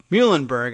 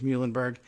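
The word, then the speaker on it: Muilenburg: CEO Dennis mule and Muhlenberg I guess it's spelled the not like the college or the Pennsylvania town but mu I le mu mu Elin Berg but probably just says Muhlenberg spoke by phone with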